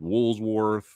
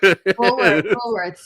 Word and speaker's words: Woolworths: Woolsworth. Yeah, I'm that old. Yeah. I'm mentioning those. Yeah, no one knows what Woolsworth is. Woolworths, yeah. Woolworth. Yeah. Look, I was saying it wrong.